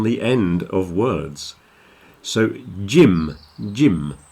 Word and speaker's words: Jim: end of words so Jim Jim make sure you pronounce the M Jim like an m not an N otherwise you say Jin